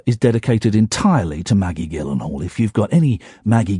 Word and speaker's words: Gyllenhaal: that woman is Maggie Gillen Hall hi chihuaha what a lady what a woman and I respect her so much that I'm I'm saying the hard G it's a hard G Gillen Hall Jake Gyllenhaal